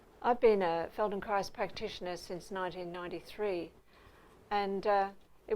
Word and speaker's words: Feldenkrais: I'd grown to love Feldenkrais is about learning and you say it like rice at the end amazing that Adrienne rice